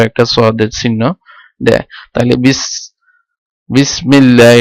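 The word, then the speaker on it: بسم الله: তাহলে বিসমিল্লাহ, এটা আলিফটা এখানে উচ্চারণ হবে না, যে বিসমি আল্লাহি এভাবে উচ্চারিত হবে না।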